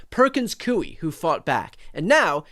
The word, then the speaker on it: Perkins Coie: Anyone who watches this, the law firm he just named, Perkins Coie, everybody says it wrong. They say Perkins Coie. It's Perkins Coie, like gooey.